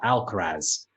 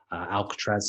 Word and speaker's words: Alcaraz: 17 year old called carlos alcatra alcaraz alcatraz is the jail not uh his his name's carlos alcarez as i said in